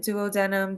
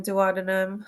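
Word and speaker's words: duodenum: so that's the duum you can say it like tomato tomato right Doo denim duum however you like it the jum and the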